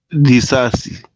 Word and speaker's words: Disasi: How'd you pronounce it again? Disasi.